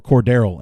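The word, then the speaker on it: Cordarrelle: the candy store with quarter L Patterson or Cordero as his name has needs to be pronounced we need to figure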